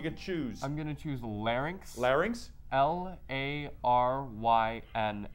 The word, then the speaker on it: larynx: choose I'm gonna choose larynx larynx l-a our way and act you got that right and some people mispronounce it as lar nix we did not in